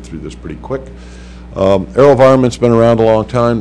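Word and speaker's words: AeroVironment: airospace integration AO ver I'm not doing well pronouncing anything Vero how do I say it Aero environment thank you mhm slides please I uh just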